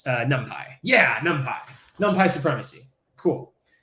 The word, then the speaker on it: NumPy: some helpful math functionality um so numpy some people pronounce it numpy i think these people are wrong but you know whatever